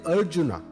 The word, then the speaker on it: Arjuna: pronounced as Krishna using the vowel R similarly Arjuna is pronounced with a a sound at the word